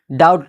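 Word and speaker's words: doubt: क्योंकि यहाँ पे बी साइलेंट है जो टी से पहले आया है। इसी तरह डाउट जिसका माना होता है शक व शुबा, यानी यहाँ पर भी बी साइलेंट हो गया है।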